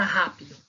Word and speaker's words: rápido: Qual é a sílaba mais forte?